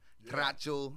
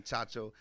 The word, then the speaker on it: Tracho: Tracho, as they say it in Spanish, because I say it wrong every time. Everybody that's Mexican think I'm saying Chacho.